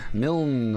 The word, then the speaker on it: Milne: Milne rhymes with kiln.